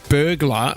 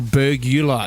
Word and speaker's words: burglar: You guys, are you saying burglar or burgular? said There's no burgular. three syllables.